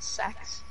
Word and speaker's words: CeX: Kex, whatever you want to call it. CEX. And he won the tutor and said it was like pronounced sex.